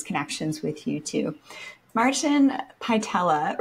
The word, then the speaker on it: Pytela: Martin Pytela, rhymes with patella, became a health coach after overcoming serious health challenges.